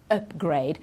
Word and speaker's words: upgrade: you can see here the stress is on the up upgrade so this is tricky